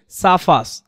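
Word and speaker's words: suffers: এখানে কিন্তু আরো উচ্চারণ হবে না। আর এর পরে যখনই কনসন্ট আসবে আরটা সাইলেন্ট হয়ে যাবে। স্কিপ করতে হবে আরটা পড়া যাবে না তাহলে এটা কি হবে সাফাস ফ্রম সিভিয়ার ট্রাফিক কাঙ্গেশন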